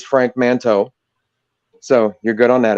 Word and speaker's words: Frank Manteau: So you did pronounce it right. It is Frank Manteau.